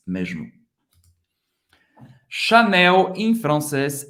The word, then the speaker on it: Chanel: CH tem o som do Sh. Chanel. Agora, você não vai pronunciar como, lembrando, Chanel, CH, você vai parar Sh.